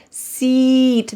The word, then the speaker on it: seat: This has a long E sound. Look at my lips seat. They're very wide, seat.